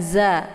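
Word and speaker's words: ز: Kemudian za dibaca pendek ya. Za posisi makharijul huruf za ini tepatnya di ujung lidah dengan ujung gigi seri bagian atas. Za. Jadi sifatnya lunak, tidak usah ditekan ya. Jangan za ya.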